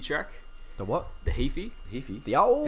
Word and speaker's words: Heaphy: went down to nelson and we did the heaphy track the what the heaphy the owl it's spelled h-e-a-p-h-y okay so it's got an interesting